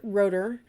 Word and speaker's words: Rotter: name at the top it looks like rotters but he pronounces it rotor so rotor's expectancy reinforcement